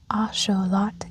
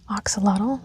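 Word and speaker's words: axolotl: The ashelot, pronounced asholot in noatal, not oxalottle like I originally thought and first heard, is also known as the Mexican walking fish.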